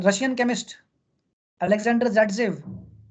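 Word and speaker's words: Zaitsev: Russian chemist Alexander ज़ेटसेव, also pronounced as सेटजेफ।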